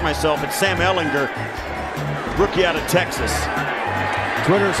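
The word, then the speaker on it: Ehlinger: so nice they i've been saying sam ellinger's name wrong so now i get a chance to correct myself at sam ellinger rookie out of texas twitter's a friendly place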